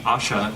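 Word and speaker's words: Ayesha: She, Asha, as Haggard pronounced it, the main character of the book, she says that she is, of course, immortal.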